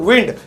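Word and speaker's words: wind: अब ठंडी हवाओं को अंग्रेजी में कहते हैं कोल्ड विंड। मुझे पता है ज्यादातर लोग पहले से वाइंड पढ़ते होंगे, आज से अपनी प्रोनाउंसिएशन सुधार लो।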